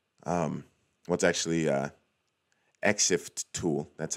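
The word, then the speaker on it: ExifTool: know that the answer to this will be X fill tool um what's actually uh except tool that's how you pronounce it exif tool because I've used this in another one of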